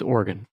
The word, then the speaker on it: Oregon: Colorado, you know, it's like Oregon, Oregon, right? Those people can right off. It's Oregon.